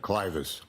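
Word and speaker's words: clivus: Am I pronouncing that correctly? Clus.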